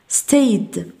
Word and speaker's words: stayed: cleaned نضيف هنا y stayed قلنا ثم cleaned cleaned وكأن الإي غير موجودة لا تنطق cleaned stayed stayed.